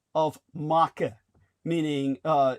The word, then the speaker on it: marque: where they were uh swearing off letters of Maka meaning uh it's spelled marque you would think it would be pronounced mar but it's letters of maca and the letters of maka are the permission